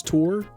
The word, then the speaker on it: Thor: It's not Thor, it's Tor.